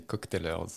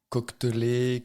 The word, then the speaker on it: Cocktailers: je le prononce bien tu le prononces très bien et tu es une des rares personnes à bien le prononcer cocktailers comment est-ce que les gens le disent cockeler cockelier cotelé coquelé voilà il y a le côté coquetier il y a exactement le côté coquetier qui ressort mais c'est sûr que